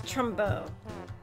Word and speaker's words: trombone: for the next it's Trumbo you don't pronounce the last consonant in French okay I thought you